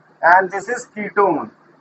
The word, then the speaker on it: ketone: That is, इसमें we use suffix "un", writing one but reading pronounced "own", and this is ketone, right?